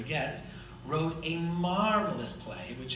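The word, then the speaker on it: Goetz: gets a key one it pronounced that the German way Getz wrote a marvelous play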